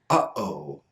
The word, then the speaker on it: uh-oh: The most common example of this is the word uh-oh. Uh-oh. Notice that the beginning sounds are very sudden. We don't say oh, yo. There's a stop sound at the beginning.